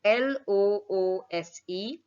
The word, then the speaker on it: loose: confuse it with is l-o-o-s-e loose here it is the s sound the previous one had a z sound this is an s